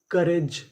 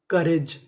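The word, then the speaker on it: courage: जैसे COUR, यहाँ पे हमें OU का उच्चारण नहीं करना। और आखिरी में लिखा है RAGE, इसे पढ़ेंगे रिज। तो पूरी मीनिंग क्या बनी? करेज, करेज।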